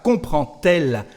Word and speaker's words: comprend-elle: La pregunta será comprend-elle? Y escuchamos la pronunciación T de la letra D.